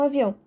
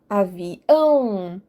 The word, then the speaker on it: avião: enfatizo o Gar e o mesmo acontece com avião avião é o ão que eu dou ênfase quando eu pronuncio última